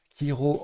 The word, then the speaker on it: kiro: Le coup suivant, c'est C et H ensemble, mais pas prononcé ch. Hiro en A11. Ah pardon, hop. Kiro en A11, donc sur le R de réjoui.